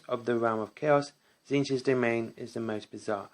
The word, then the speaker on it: Tzeentch: And today we're looking at the Maze of Tzeentch. I'm going to be pronouncing that way because both T's are silent.